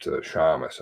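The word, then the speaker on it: shamus: private detective just said uh pronounced shamas i believe but s-h-a-m-u-s as opposed s-e-a-m-u-s formatting font stamps don't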